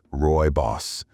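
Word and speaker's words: rooibos: Ruy Boss tea, pronounced Roy Boss, may not be as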